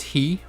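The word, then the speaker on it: ひ: e so it's pronounced you spell it like hi but you pronounce it like he so try to remember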